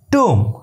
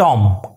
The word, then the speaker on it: tomb: plummer right plumber next it's t double o m two it's two not tom clear it's two